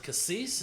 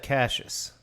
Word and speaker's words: cassis: Was it cassis? Is that yeah, what? yeah. Yeah. Cassis. Creme de cassis. Yeah. I mean, it's kind of licorice. So you don't pronounce that Cassius.